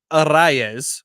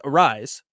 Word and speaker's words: Arraez: it was great, but he pronounces it Arraez, which I think is probably how you're supposed to. Don Orsillo just says Arise, and I think I'm somewhere in the middle.